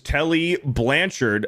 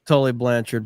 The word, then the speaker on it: Tully Blanchard: Magnum TA versus Telly Blanchard, a best cage match with the I Quit. Stayed in character It's Tully Blanchard, but I know that Beardo didn't say it wrong. It was spelled wrong.